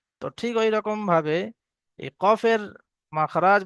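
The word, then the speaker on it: ق: আগে বাড়িয়ে সেই বরাবার উপরে তালুর সঙ্গে লাগিয়ে কাফ উচ্চারণ হয় এবার দেখুন এখানে অনুশীলন আছে কি কি?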